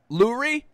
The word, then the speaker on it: Lurie: Jeffrey Lurie, however you pronounce it, it's L-U-R-I-E, so I'm taking it as Lurie for now. Lowry does come off the tongue better, though.